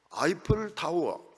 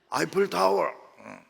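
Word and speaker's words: Eiffel: 근데 에펠탑이라면 못 알아듣습니다. 프랑스에 가면, 외국에 가면 에펠탑이라 이렇게 하면 안 돼. 꼭 아이플 타워 이렇게 해야 됩니다. 동부교회는 발음이 정확해야 돼요. 아이플 타워, Where is 아이플 타워?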